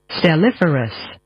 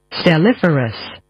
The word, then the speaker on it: stelliferous: Stelliferus. Stelliferus. Stelliferus. Our word of the day is Stelliferus.